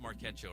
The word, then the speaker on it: Marquecho: It's pronounced Marquecho, right? Yes. Yeah, nailed it.